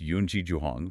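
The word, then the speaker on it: 云栖袾宏: That scholar was Yunqi Zhuhong, pronounced Yunqi Zhuhong.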